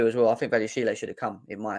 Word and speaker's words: Badiashile: The accent on the Badiashile, E for Badiashile. Badiashile.